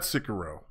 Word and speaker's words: Sekiro: And then that's the thing with games like that though, to me, is that's why I haven't got Sekiro.